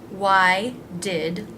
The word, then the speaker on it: why'd: where'd where'd it go why did wide wide again just adds d sound and it's pronounced just like this word wide wide why'd you do